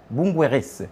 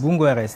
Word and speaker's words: Boungoueres: Alors Bungouer pour être précis, c'est bien comme ça que ça se prononce. Bunguer tout à fait.